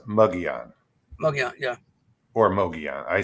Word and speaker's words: Mogollon: If you look up Mogollon on the internet, how to pronounce it, there's 5 different ways. I know. Mogollon, it's like no, just quit. I'll go on with Mogollon. Yeah, and then the only difference I've really heard is Mogollon.